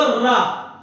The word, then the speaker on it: र: अब आप बोलो रा, रा। जब रा बोलोगे तो जीभ वाइब्रेट करेगी।